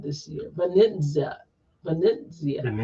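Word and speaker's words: Venezia: I'm trying Venzia this year. Benzia.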